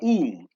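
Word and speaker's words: ewe: The word is a u, E-W-E, or a u, a u, how to pronounce it.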